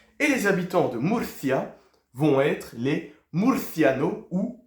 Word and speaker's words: Murcia: juste ici pour vous c'est quoi Muria hein le C qu'on va bien prononcer et les habitants de Murcia vont être les Murciano